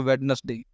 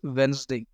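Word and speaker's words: Wednesday: कुछ लोग मंडे ठीक बोलते हैं, ट्यूसडे भी ठीक बोलते हैं, लोग बोलते हैं इसको वेडनेसडे, इट्स वेंसडे।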